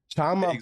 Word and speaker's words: chama: Chama, pronounced chama, is a versatile Portuguese slang term meaning flame, let's go, or call to action.